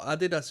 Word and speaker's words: Adidas: It's got the Adidas kicks on, or Adidas if you pronounce it that way.